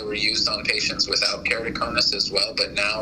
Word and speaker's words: keratoconus: How do you treat keratoconus, or however you pronounce that, keratoconus? Yes, keratoconus.